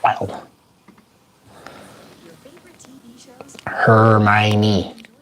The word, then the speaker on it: Hermione: Hermione. Her tiny little Miney. And that's how you know how to spell it, because you just break it down just like that.